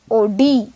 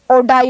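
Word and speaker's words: Oddi: presence of sphincter and we call this sphincter as sphincter of OD or we can pronounce or die also so sphincter of or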